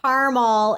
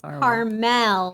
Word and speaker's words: Carmel: it's usually it's carrot it's not caramel it's carmel carmel that is a